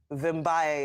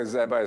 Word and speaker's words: Vimbaye: Vimbaye is my name. Okay. Okay, Zabai, sorry, I'm sorry. I pronounced it wrongly.